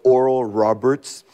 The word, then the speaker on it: Oral Roberts: les rignons de doct oral Roberts donc oral Robert pour les les francophones c'est comme ça qu'on prononce en français moi étant du milieu